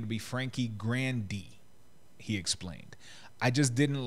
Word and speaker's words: Grande: and then so then she has they started pronouncing it grande but in the family it's pronounced grandi and then when they introduced themselves its grandi